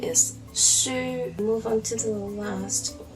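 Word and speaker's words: 書: lines and it is book in Cantonese the pronunciation is sure move on to the last one which is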